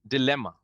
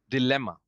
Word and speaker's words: dilemma: Dilemma. Dilemma. The bit is stress on L. Dilemma. Dilemma.